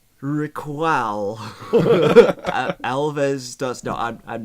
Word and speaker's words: Raquel: It'd be spelled RAKWEL. WEL. Yes, Raquel.